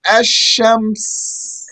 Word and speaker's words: Ash-Shams: to describe the other, because the lamb of the word Al-Qamar is pronounced clearly with the qaf, and the lamb of Ash-Shams Shams. is merged into the sheen.